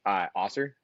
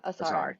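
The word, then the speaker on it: Ausar: I think Osser, that's his name. Asar, Right? yeah. Asar, thank yeah.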